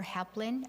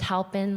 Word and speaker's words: Halpin: mayor we have jennifer heplin um here introducing this ordinance thank you something you can hear me okay it's actually it's pronounced halpin like you're helping someone just say jennifer thank